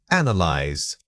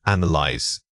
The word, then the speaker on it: analyze: The word is analyze. Say it again, analyze. Notice that the stress falls heavily on the first syllable.